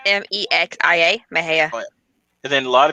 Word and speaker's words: Mexia: My favorite is Mejia because it's Mexican and it's Mexia. Mejia. And then a lot of people mispronounce Oregon.